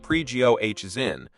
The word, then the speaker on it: Prigozhin: in Ukraine whereas Fighters had been engaged precaution pronounced pre-goh is in declared he was in charge of the Southern